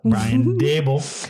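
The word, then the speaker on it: Brian Daboll: brian dable got it brian not ryan dabble brian dable i don't think you've mispronounced one name so far um i think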